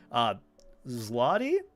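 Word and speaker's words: złoty: Fairness as zloty. Zloty. The Polish zloty. Zloty. Zloty. I'm assuming there is some deeper pronunciation of it.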